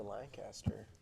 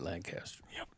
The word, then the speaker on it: Lancaster: So I'm sorry, I didn't say it right. Lancaster. Yeah, it's Lancaster. We're in Texas. We go to school with some of those boys, and every time I say it, Lancaster, they always say, no, it's Lancaster. Yeah, they gave me a talking to one day. They're like, why are you pronouncing like that? I'm like, Because you're not in Pennsylvania anymore.